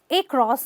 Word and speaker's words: across: another very common word it looks like an across or an or an uh across but it's actually a cross oh just the uh sound there are many words